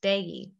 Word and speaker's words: baillis: And it's a French word, so it's not pronounced at all the way that it looks. Here's how it's spelled in the chat pod, but it's pronounced baillis.